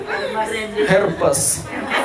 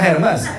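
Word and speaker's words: Hermès: terus pulang-pulang bawa tas Herpes, sudah lagi apa? Oh, Hermes, kremes. Kalau Herpes apa? Paham ya, sakit kulit ya? Itu herpes ya. Kalau tas? Anda malu-maluin Anda. Cara bacanya nggak begitu. Herme.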